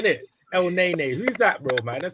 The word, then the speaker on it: Elneny: Elneny.